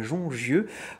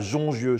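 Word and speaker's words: Jongieux: Éric Carrel, bonjour, vous êtes vigneron à Jongieu, je prononce bien? Tout à fait, à Jongieu.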